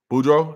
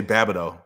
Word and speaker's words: Boudreaux: Boudreaux? That's how you say it? I want to say Babado because I knew somebody named Babado and their name was spelled like that. So, Boudreaux, thanks so much for the super chat.